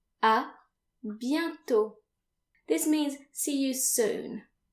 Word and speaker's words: à bientôt: If you plan on seeing that person again, you can say à bientôt. À bientôt. This means see you soon. À bientôt. And again notice that the final T is silent.